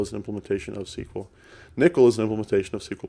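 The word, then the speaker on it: N1QL: 1ql is is that you say it as nickel that is the correct pronunciation that stands for non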